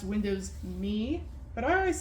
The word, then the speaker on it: Windows ME: They were really pushing home networking when Windows ME first came out. I know some people say it's pronounced Windows Me, but I always said it as ME because it's an acronym standing for Millennium Edition, but now we're going into the language options.